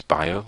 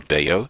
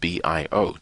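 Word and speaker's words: Bayo: crowd is I just I introduced myself as bio and people go well that's different well if that's what you think it's it's b a Yo and they go beo and I say no it's pronounced bi IO and that's how I enter the conver the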